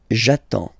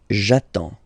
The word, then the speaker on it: j'attends: So the first form will be j'attends, j'attends, okay? You get D and S, well basically you don't pronounce them, okay?